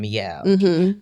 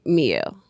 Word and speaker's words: Mielle: it says my L.